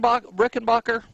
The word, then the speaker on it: Rickenbacher: our our special guest today Colleen is it pronounced Rick and rickenbacher yes it is it is huh and so